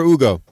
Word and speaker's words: Ugo: How do you say your name, Yugo or Ugo? Ugo. No. Wait. Ugo. Ugo. Okay.